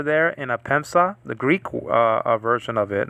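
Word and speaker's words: ἔπεμψα: So epsilon with the soft breathing marker. So it's not he, like in the word hen, which means one, but it's e, like in the word n, a preposition.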